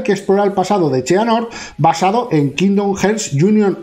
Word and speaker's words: Xehanort: Perdona, me han dicho cómo pronunciarlo. Cheanord, ¿no? Es Cheanord, simplemente.